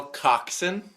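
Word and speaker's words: coxswain: number i had that's how you spell coxson it's spelled cockswain yeah yeah like you're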